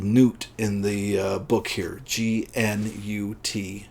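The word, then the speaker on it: Gnut: movie, but is called Newt in the book here. G-N-U-T. Newt, Nut, I don't know. I assume the G is silent.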